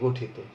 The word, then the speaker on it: গঠিত: যেমন তুমি যদি একটি শব্দ বলো গঠিত, তাহলে এখানে রস্বই আছে এবং রস্বইয়ের পরে তয়ের সাথে অ আছে, এই অধ্বনির উচ্চারণটা অধ্বনির মতোই হবে, গঠিত।